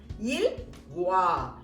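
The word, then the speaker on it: ils vont: Next last ப்ளூரல்ல பார்த்தீங்கன்னா தே அப்படின்றத குறிக்கிறது பார்த்தீங்கன்னா இல் வா. திருப்பி இங்க நம்ம இ ரீடைன் பண்ணி தே ஆட் பண்றோம். எப்போதுமே அது நம்ம ப்ரொனவுன்ஸ் பண்ண மாட்டோம். அதனால இல் வா, எல் வா அப்படின்னு சொல்லிட்டு சொல்றோம். இப்ப இந்த வார் என்ற வேர்பை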